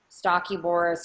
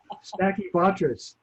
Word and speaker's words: Stachybotrys: in the lakes and making the molds grow, Stachyboris or whatever, other molds. I always say it wrong. What's wrong with me, man? What is it? Stinky butt ass? Stachybotrys.